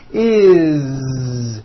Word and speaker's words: is: spelled with an S it's never is onvo never it's always is with a voice Z okay do this with